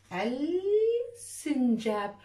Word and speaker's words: السنجاب: أنت كتبت السنجاب، وهذا خطأ لأنه يوجد في حرف اللام، لكن في اللام الشمسية الشمس بتغطي على حرف اللام، إحنا ما بنشوفها لكن بنلفظها، إذن تكتب ولا تلفظ، نقول السنجاب، ونضع فرق حرف السين شدة، السنجاب.